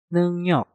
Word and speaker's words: 능력: Seperti contoh, 능력. Di contoh yang pertama ini, kalian bisa melihat neng diakhiri dengan nyeng dan juga diikuti dengan kata yang diawali dengan real. Nah, maka realnya kita rubah menjadi suara nyen.